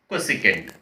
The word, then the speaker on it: cosecant: While we are writing, we will write as the short forms, but always the pronunciation should be in terms of sine, cos, tan, cot, secant and cosecant.